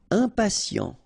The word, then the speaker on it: impatient: Impatient. Okay, remember, final T not pronounced. And then you get this T, I and a vowel, so sien.